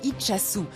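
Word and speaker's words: Itxassou: Alors, en fait, on dit Itchassou.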